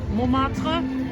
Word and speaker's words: Montmartre: We are in Montmartre.